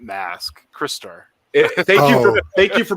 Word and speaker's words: Crystar: Not Mask, Crystar. Thank you for pronouncing the name of that property correctly, Shane. As our fearless leader called it Christar, even though he's a crystal.